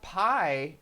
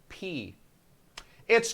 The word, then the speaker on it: pi: but did you know did you know that pi is actually pronounced P it's true pi is pronounced